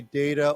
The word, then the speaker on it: data: Yeah, data, of course, we can say data or, yeah, but I mean, pronunciation-wise, we can say data or data. Data, it's all okay. Yeah, either way is fine.